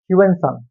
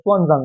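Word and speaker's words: Xuanzang: হিউনসান। Hyun সানকে বলা হয় ওয়ানসান। ঠিক আছে আগে হিউনসাং বলা হতো ওটা একচুি ভুল উচ্চারণ সবাই সুজাম বলবে তো সুজাম কি লিখেছে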